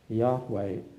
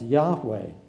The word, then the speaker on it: Yahweh: in Hebrew there is a word which is probably to be pronounced Yahweh.